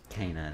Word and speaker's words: Kena: Kena, that's how you say it.